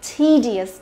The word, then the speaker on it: tedious: Đấy, thì từ này tedious, đúng không? E và đằng sau đó cũng cộng với cả io thì e cũng đọc là i dài, nhớ chưa? Tedious.